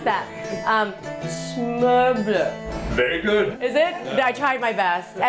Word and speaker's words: Smørbrød: Smørbrød, as we call it. Okay, let me try to pronounce that. Smørbrød.